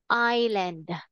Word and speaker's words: island: have to say Eastland it is silent so we say Island okay now who's the